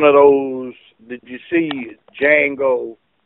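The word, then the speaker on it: Django: those did you see Jango the D is silent yes sir remember the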